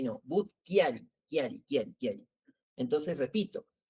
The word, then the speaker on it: Chiari: Butkiari, bootari, no chiari, no. But kiari, kiari.